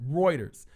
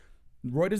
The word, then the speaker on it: Reuters: Yeah, that's how you pronounce it. Reuters. Reuters News, U.S.